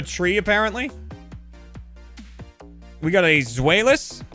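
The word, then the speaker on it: Zweilous: apparently we got a zoelis zwielis i would guess because it's supposed it's two in german it's violence einstein dry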